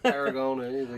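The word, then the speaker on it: Aragonés: Will you pronounce the name? Aragones.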